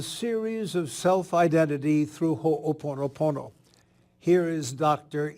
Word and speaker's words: Ho'oponopono: another in the series of self identity through hoponopono here is Dr E hakala hen welcome to